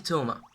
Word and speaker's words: Toma: Aikinori et le dernier c'est Toma. Ça s'écrit Tuma en anglais japonais, donc je vais écrire Toma, T-H-O-M-A. Non, je vais écrire T-O-U-M-A. Non, T-H-O-M-A. T. Comme ça, vous savez que ça se prononce Thomas.